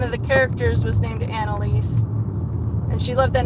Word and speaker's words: Annalise: He said Anise. Elise, and I'm like, Annalise. It's Annalise. But the pastor still said